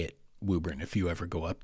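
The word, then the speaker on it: Woburn: It looks like Wuburn or Wuburn maybe, but it is not. It is Wuburn. Just trust me on this and say it Wuburn if you ever go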